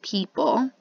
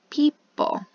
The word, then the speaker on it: people: end of the word this e is also silent it does not make a sound so we just pronounce